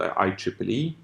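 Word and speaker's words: IEEE: a standardization organization called I Triple E so it's I and Triple E that's how you pronounce this it's the Institute electronic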